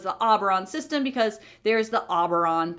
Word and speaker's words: Auberon: So Auberon, it will remain. And Auberon is one of the systems through the Ring Gate. So it's the Auberon system because there's the Auberon planet, and it's